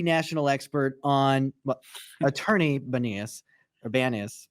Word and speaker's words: Banias: is the national expert on what attorney benius or ban is how do you say your name right that's your good bannist yeah uh is the the one of the